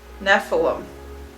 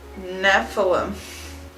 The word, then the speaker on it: Nephilim: out how that's pronounced okay here we go Nephilim okay Nephilim so I pronounced it wrong that is what we know know the woods so the Nephilim but she goes picture born because she thinks